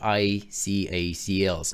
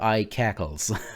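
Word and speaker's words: icacls: have the command called i c acls or i cackles how it is sometimes pronounced this tool can be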